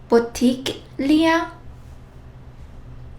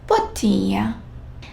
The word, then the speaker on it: bottiglia: And G plus L. GL. Here, we don't sound and we don't pronounce G as we are used to, like G or J. It's almost silent. Well, it's not even silent. G plus L has a very different pronunciation.